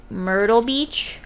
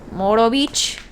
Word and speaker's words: Myrtle Beach: ago we live near myrtle beach but our parents pronounce it moro beach myrtle beach i thought